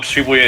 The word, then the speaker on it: Shibuya: No, Shibuya is actually the correct pronunciation.